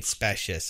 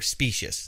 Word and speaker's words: specious: I mean, specious at best. I mean, just so, or specious, the proper way to say it.